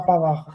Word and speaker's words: Pavard: First of all, it's Kefrin Thuram, and it's Manu Kone. That's how you say it. And Benjamin Pavard. That's how you say their names.